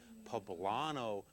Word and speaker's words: poblano: green chili a little bit of heat it's pronounced by the way poblano peppers for those of you have heard it